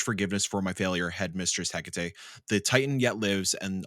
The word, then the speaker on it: Hecate: What's the pronunciation? Hecate.